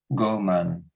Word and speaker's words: Ghoman: If we look at the etymology of the word human, it derives from the Indo-European word goman, that's spelled Ghoman, which means of the earth or earthling.